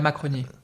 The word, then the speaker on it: Macronie: Muddling Through in Macronia, is that how you pronounce it? Because obviously this is not a word that I'm... La Macronie.